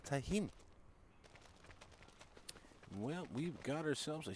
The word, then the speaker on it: Tennheim: At least I watched the video on it, and that's how the gentleman pronounced it, was Tennheim.